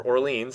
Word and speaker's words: Orléans: Orleans, or Orleans if I do the English pronunciation.